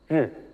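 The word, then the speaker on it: 日: Comment le lire ? Ri. Droite. Voici notre prononciation chinoise.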